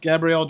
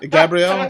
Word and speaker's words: Gabriel: do no you should Gabrielle is not right not Gabrielle that's female's name not Gabriel Gabriel G stopped you last time it's not Gabrielle Gabriel I'm trying to like